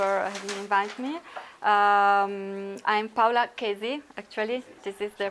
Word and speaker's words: Chesi: I'm Paola Chesi, actually. This is the pronunciation of my surname.